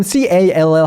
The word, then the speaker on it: call: call이 아니에요. 그러니까 그냥 O 발음이 아니에요. 이것도 그 open O입니다. call. 보세요. 그냥 우리나라 말로 제가 call이라고 O 발음 정확히 하는 거랑 영어 발음 C-A-L-L 하는 거랑 들려줘 볼게요.